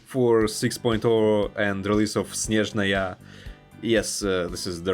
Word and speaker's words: Snezhnaya: August of 2025 for 6.0 and release of Snezhnaya. Yes, this is the right way to pronounce it.